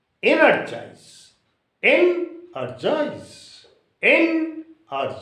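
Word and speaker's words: energise: first syllable organized similarly energize e n e r g i s e energize it is also R3 syllabic word or trisyllabic word so that sense should be on e energize in a joys in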